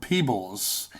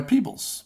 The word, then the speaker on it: Peoples: Anderson and David Webb Peebles. It's spelt Peoples, but I have it under good authority that him and his wife, I believe Janet, who I believe wrote Blade Runner, that they go by Peebles, I believe.